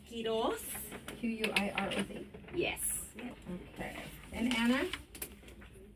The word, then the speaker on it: Quiroz: It's Quiroz.